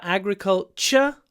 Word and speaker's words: agriculture: very important for the local economy just remember agriculture when we say culture t r e is pronounced with a ch agricult ch and the